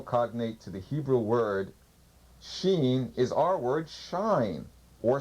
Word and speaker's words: Shin: Shin, in Hebrew, it's pronounced SH or S, so it's either be Shin or Seen, means a tooth.